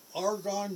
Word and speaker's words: Argonne: the name of that argonne national laboratory argon a our G a hard g 00 n n N